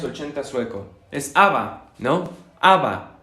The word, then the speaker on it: ABBA: ABBA. Lo pronunciamos como si fueran las habas que nos comemos. ABBA. Pero si lo queremos hacer con una pronunciación a la francesa sería ABBA, ba, ba, ba, ba, ba.